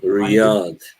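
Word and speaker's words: Riyadh: they're fighting at right what is it R Riad RI RI Riad the capital of sodi Saudi Arabia yeah okay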